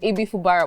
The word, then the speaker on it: Ibifubara: Did I pronounce that properly? Fubara. Ibifubara. I'm sorry. It's okay. Ibifubara.